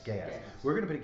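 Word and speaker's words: geas: G we never forget out how that's actually pronounced g e a s gas gas we're going to put a g spell on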